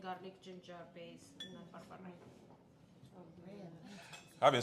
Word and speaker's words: berbere: red lentils made with berbere. It's onion, garlic, ginger base, and then berbere. I've been saying it wrong all this time. I've been saying Berber.